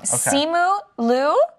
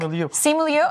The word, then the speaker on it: Simu Liu: Simu Liu. What do you think? Simu Liu.